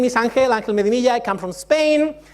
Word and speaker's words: Angel: Okay, my name is Angel. We pronounce it that way.